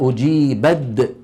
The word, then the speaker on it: أجيبت: انظروا أجيبت دعوتكما، يعني التاء شو صار فيها؟ تحولت إلى دال، أجيبت تحولت إلى أجيبد، ثم أدغمت الدال في الدال فصار النطق بإيه؟ بدال مشددة.